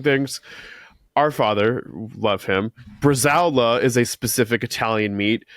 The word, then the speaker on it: Bresaola: But in defense of people from Jersey mispronouncing things, our father, love him, Bresaola is a specific Italian meat that our entire lives, our father called it brajol.